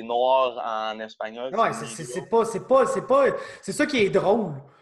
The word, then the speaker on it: negro: Ça se dit même pas pareil. Tu sais, c'est N-E. Tu sais, ça s'écrit pareil, mais c'est comme un I, genre. Ah, c'est N-E-G-R-O, c'est negro. Negro.